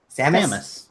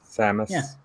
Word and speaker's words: Samus: I supposed to say say it for me Samus Samus I'm a Samus man let's all play up